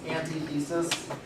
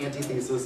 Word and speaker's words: antithesis: you get an antithesis, which one of my high school teachers pronounced antithesis. That's wrong. So I put that in my Oklahoma to English dictionary. You know, it's not antithesis, it's antithesis.